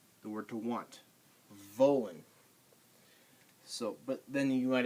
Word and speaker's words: wollen: W's in German are pronounced like V's in English. So Welt. Do I have any other W words on here? Wollen. The word to want. Wollen.